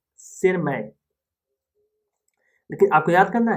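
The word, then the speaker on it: Tschermak: Eric von टीशमार्क, देखो टीशमार्क लेकिन यहाँ पर साइलेंट है, दैट इज शेरमार्क, शेरमैक, लेकिन आपको याद करना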